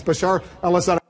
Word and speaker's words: Bashar al-Assad: in charge Bashar al-assad I know you've missed pronounced his name a few times but it's Bashar al-assad to destabilize the region